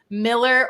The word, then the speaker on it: Mueller: I had a builder say that it's pronounced Miller. I swear I've heard that before, but everyone says Mueller. It irks me because I hear it too all the time. It's like Miller?